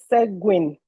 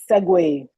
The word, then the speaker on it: segue: Someone said segue the word is segue and by the way